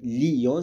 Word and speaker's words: Lyon: dit pas hier d'accord pour Lyon on dit Lyon c'est la dièse synérèse